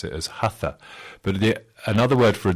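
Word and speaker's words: haṭha: in roman script h-a-t-h-a one has to put a dot underneath the t so because it's a retroflex t you turn your tongue back against the roof of your mouth to say that and then it's aspirated to make the hassan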